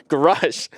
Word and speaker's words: Grush: UFO task force, David Grush. I did not pronounce that. Grush.